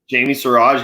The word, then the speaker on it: Jamie Siraj: Did I pronounce that all okay? Jamie Siraj.